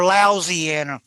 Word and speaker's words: Louisiana: different ways I say it Louisiana Louisiana or lousyanna there you go yeah depending on the mood